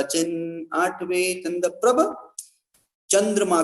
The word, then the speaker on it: चंद्रप्रभ: चिन्ह, और फिर 9वें चंद्रप्रभ। यहाँ भी चंदा प्रभु नहीं बोल, चंदा प्रभु लोग बोलने लगते हैं, चंदा प्रभु नहीं है, नाम क्या है? चंद्रप्रभ। इस प्रकार से ये सही उच्चारण, सही पाठ है।